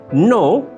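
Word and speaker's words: know: নো, নলেজ, high, tight. আমরা যখন নো উচ্চারণ করছি তখন কে লেটারটি অনুচ্চারিত থাকছে।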